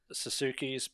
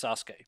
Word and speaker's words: Sasuke: says sasuke but what suzuki's suzuki's mate and it's like no it's sasuke but there's a u after the s well the giant name